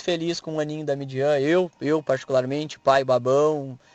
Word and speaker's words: Midian: não não sabia né a pronúncia é Midian então é a Midian Lima hoje ela tá